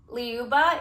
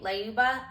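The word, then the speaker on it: Lyuba: I'll put the names on the screen just so you can see how they're actually spelled, but I think it's pronounced Leuba. It's L Y U B A Leuba.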